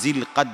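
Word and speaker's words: ذو القعدة: এই মাসের নাম হলো জিলকাদ মাস। আরবি শব্দ হলো জুল কাদা, তা আমাদের বাংলা ভাষার উচ্চারণের কারণে এটাকে আমরা জিলকদ মাস বলি।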